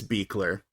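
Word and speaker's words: Buechler: all right director it's John Carl beer it's spelled buler but I looked it up and it's beer um so as a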